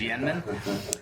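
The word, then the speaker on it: Yên Minh: I think I pronounced it Yemen earlier, but it's Yen-min.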